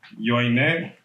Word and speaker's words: Johanné: Yo quiero que tú me ayudes con la pronunciación de tu nombre porque me parece muy interesante. Joanne.